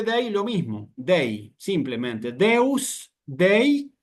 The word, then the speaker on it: Deus: de Dios es simplemente Deus, no tiene ningún cambio. No hay que agregarle nada ni sacarle nada. La E la leo como una E y la U la leo como una U.